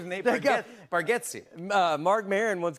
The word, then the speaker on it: Bargatze: I told you I think you say our last name correct with Bargatze and I think we say it wrong as a family.